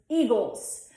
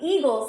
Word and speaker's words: Eagles: In Delco, we're gonna do Eagles. Whereas in Philly, Eagles has a short I in the front, and that'll be Eagles.